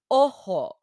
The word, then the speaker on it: Ojo: In Spanish, the letter J makes a H sound, so it's pronounced Ojo.